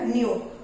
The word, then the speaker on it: knew: नया, कोई चीज न्यू होती है ना, न्यू। और KNEW, इसको भी न्यू ही बोलते हैं। यहाँ पर के साइलेंट है, sound is same, न्यू न्यू, but spelling is different and meaning is also different.